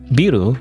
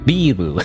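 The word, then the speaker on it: ビル: Not buu. It's biru. You know, it's different somehow. I mean, not just somehow. It's literally the rules of Japanese grammar and pronunciation, but you know, uh, Gohan.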